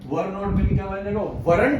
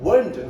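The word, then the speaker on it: weren't: वरंट नहीं उसको बोलेंगे, हल्का सा वंट, रा साइलेंट रहेगा, वंट।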